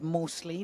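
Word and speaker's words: Mousley: Phil salt Dan mostley I've been reliably informed it is mostly despite the U in there that's how you pronounce it very close friend with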